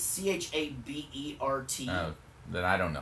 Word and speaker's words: Chabert: Lacey, is it Chabert? Was it produced by Shibert, something like that. The girl no, from Sherbert? 30 something. Lacey Chambert, right? Well, there's no M. It's Chabert.